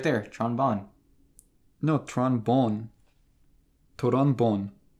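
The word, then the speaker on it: Tron Bonne: yeah Tron is it you pronounce it Tron Bon or Tron bone Tron Bon okay that's what I cuz it should rhyme right yeah you can hang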